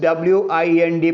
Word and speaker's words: wind: That means you have to say it as wind.